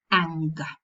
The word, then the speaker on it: anger: And in words such as finger, anger, we've got the sequence ng in the middle of the morpheme. In the middle, not at the end. If the sequence occurs in the middle, we pronounce both, the velar nasal and the g. So we say finger, anger.